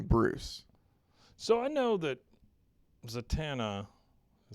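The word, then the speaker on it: Zatanna: them is young Bruce so I know that zatana I say it right yeah is she's like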